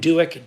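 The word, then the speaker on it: Doak: Like how everyone forgets about Ben Duick.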